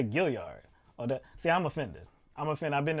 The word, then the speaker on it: Gaillard: Correctly pronounced, it is the Gaillard Center. Now, you know what? If people said Gaillard, because the L-A-R-D, if they said Gaillard, I'd be like, I understand it's Gaillard, but okay.